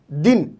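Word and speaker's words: دن: ठीक है, और इसी तरीके से दूसरा लफ्ज़ है दिन, दाल नून जेर दिन, दाल नून जेर दिन, और दिन को इंग्लिश में डे कहते हैं।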